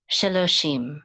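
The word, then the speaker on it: שלושים: So together with the yud, it's going to just say she, and then with the mem sofit, mem sofit, we're going to say shim. Okay, so sheloshim, sheloshim.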